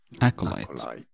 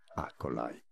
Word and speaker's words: acolyte: to learn here aolite stress on that first syllable both Bish in American English pronunciations are similar here acolyte acolyte acolyte now you know yes